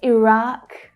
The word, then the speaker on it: Iraq: Same for Iraq and Iraq. Iraq, Iraq. I say Iraq.